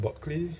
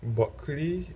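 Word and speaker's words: Bulkeley: Looking straight at Buckley. Buckley is spelled B-U-L-K-E-L-E-Y.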